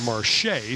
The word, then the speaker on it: Marcia: Just heard our floor announcer pronounce it Marche, so thank you.